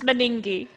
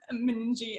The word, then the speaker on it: Meningie: actually i'm not sure is it mening people tracy how do you pee it's meningi can't pronounce it yet we went through meningie and um saw the